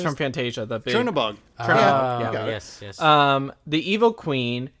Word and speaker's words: Chernabog: Chernabog.